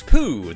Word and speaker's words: Poo: Everyone calls him poo, but it's actually pronounced po.